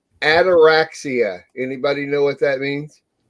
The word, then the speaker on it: ataraxia: It's almost like anorexia, but it's ataraxia.